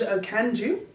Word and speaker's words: Okanju: And today we're speaking with the fantastic Okandju. Is that right? That's right. Thank you. I've been practicing. It was good pronunciation right there.